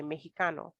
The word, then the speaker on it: mexicano: it is um necessary even if it's spelled with an x the pronunciation is still just like the j mexicano or mexicana right what's